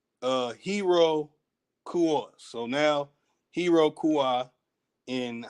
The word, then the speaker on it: Iroquois: That the pronunciation is not O-Y, it's O-way. Hero Kua.